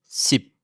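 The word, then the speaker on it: สิบ: Enfin, le 10 se dit SIP. Facile à prononcer, rappelez-vous juste que le P met fin au son.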